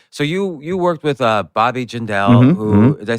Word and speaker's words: Jindal: So you worked with Bobby Jindal, who did I say his name right? Jindal.